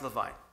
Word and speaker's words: Levine: saw a book by a man named Stephen Levine, pronounced Levine, famous foremost author on death and dying, along with Elizabeth Kubler-Ross.